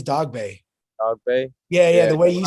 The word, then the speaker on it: Dogboe: to everyone out there people say dog bow and dog bait i don't really i think the correct way to say is dog bay yeah yeah the way